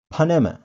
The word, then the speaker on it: Panama: In English, we pronounce it Panama. Panama. Panama.